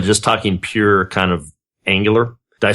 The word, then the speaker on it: Angular: It's not Rangerer?